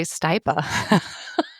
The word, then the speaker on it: Stipa: Stipa gigantica is actually stipa gigantea and it's actually stipa just so we don't have to that